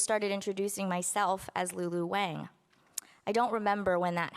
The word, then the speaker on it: Wang: This isn't, a lesson on Chinese last names, but yes, in case you're wondering, all of these Chinese last names have been pronounced wrong. Yang is Yang, Chang is Chang, Kang is Kang.